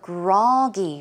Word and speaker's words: groggy: And there was the word groggy, right? So the stress goes on the first syllable. It is groggy, groggy.